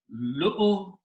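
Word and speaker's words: لؤلؤا: So the word is Lu'lu'an. Don't pronounce any of these two vowels there.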